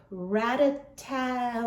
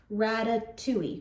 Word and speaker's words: Ratatouille: hauled it what makes me think I can pronounce it this time but I'm gonna try Rattata okay hold on Ratatouille Rada Tui Ratatouille bites from Trader Joe's they are wonderful